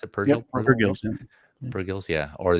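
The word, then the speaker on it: Purrgil: Purgles? How you pronounce it? Purgle? Yep, Purgils.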